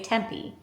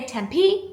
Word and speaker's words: Tempe: I did ask a local how to say tempe. It's temp. Some she said some people say Tempe and some people say Tempe, but it's Tempe.